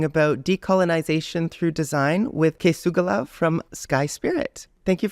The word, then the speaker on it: K̓esugwilakw: to be talking about decolonization through design with kugala from Sky spirit thank you for joining me today h uham uh you pronounced my name amazingly uh my my name